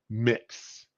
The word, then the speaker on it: Mx: got to yeah we just have one MX mix no you like furry you like Red Fury